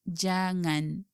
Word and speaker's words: jangan: and the noun singer the sound of NG in this two words is similar to the sound of NG in the word jangan like so sing singer